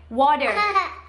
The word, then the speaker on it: water: นะคะหรือตัวอย่างที่2ก็คือ butter นะคะที่แปลว่าเนยคนอเมริกันเขาจะอ่านว่า butter นะคะหรือว่า water นะคะ water ที่แปลว่าน้ำเนี่ยคนอเมริกันเขาก็จะอ่านออกเสียงเป็น water นะคะเดี๋ยวเราไปดูตัวอย่างกันค่ะว่าในแอปนะคะเขาออกเสียงยังไงนะคะคำว่า escalator นะคะกับ escalator We go up on